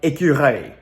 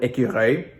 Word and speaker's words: écureuil: I mean, you would think that you should pronounce an L at the end of the word because of how it's spelled, but you don't hear an L in the word écureuil, but it's there.